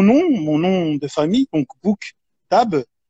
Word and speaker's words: Bouktab: mon nom de famille cook table il ya deux syllabes la première syllabe book en anglais qui veut dire libre et la deuxième syllabe qui tape qui veut dire livres en arabe donc j'ai toujours dit que